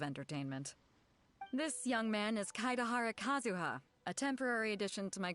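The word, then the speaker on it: Kaedehara Kazuha: I've been saying his name wrong this whole time. It's Kaidahara Kazuha.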